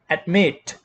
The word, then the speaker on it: admit: Okay, and the next word, as you can see here, the second syllable stressed. Admit.